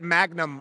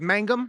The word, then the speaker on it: Mangum: We get Magnum all the time. Yep. Our last name is Mangum. Yep. But we get Magnum constantly, so I apologize because it really annoys me when people get my last name wrong.